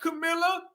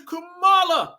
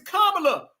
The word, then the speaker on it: Kamala: Her name ain't Camilla. Her name is Kamala. It's Kamala.